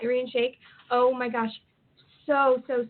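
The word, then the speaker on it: Irina Shayk: oh my gosh what how do you say her name Shake is that arene shake yeah yeah arene shake oh my gosh so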